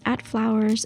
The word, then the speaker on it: FVLWRS: If you want to see more photos, my Instagram is @flowers. It's spelled FVLWRS.